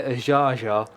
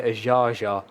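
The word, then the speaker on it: Azhazha: Yeah, this is a man called Vladimir Azharzha, which is that's not how it's spelled. It's spelled Aiaia. So you can imagine. I had to look up a documentary about him and how they pronounced it in order to know that I was actually saying it right. Because I was gonna go with Aiaia was gonna be my guess, but it's Vladimir Azharzha is the name of this man.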